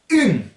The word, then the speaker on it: un: Alors, un se dit tout simplement une. Ça s'écrit pareil, mais vous vous souvenez de la leçon sur la prononciation. Vous faites ung et vous enlevez le G au dernier moment, ce qui va donner une.